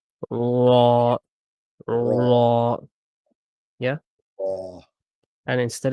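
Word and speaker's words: راء: And then we have ra, Raw. ra. Yeah. And this is a heavy Do I, letter. do I roll the R like a raw or no? Not really.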